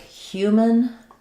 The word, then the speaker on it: human: Something like human, that's almost like no vowel there. So human doesn't really matter too much because it's mostly like a syllabic N. The N is the main sound.